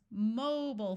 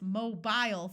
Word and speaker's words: mobile: another country for example in the United States we call cell phones mobile phones where the first syllable is accented with a clear o sound British English says mobile phones where there is a long I sound in the second syllable that long ey sound